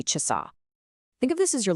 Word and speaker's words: часа: And listen to where the emphasis is. It's on that last syllable, часа.